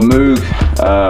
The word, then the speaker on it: Moog: This thing, which is amazing, the Model D, which is like kind of remake of an old Moog, or Moog, depending, that's probably the correct way to say it.